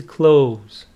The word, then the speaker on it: clothes: okay and this one some students have a hard time pronouncing it they say clo it is close close it's like the verb open close so close see what